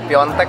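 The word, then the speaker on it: Piątek: Piatek. Hah? Piatek. Terus? Gimana sih bacanya itu? Enggak tahu, mungkin gua salah ngomongin Piontek katanya sih.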